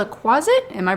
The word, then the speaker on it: quasit: this is called a closet am I pronouncing that right closet like closet but with a Q closet like how a little kid would pronounce closet um the closet um